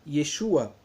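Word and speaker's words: Yeshua: dá um testemunho de e sua a parte interessante que manteve o nome original de jesus cristo que não é branco se pronuncia e sua e tem um versículo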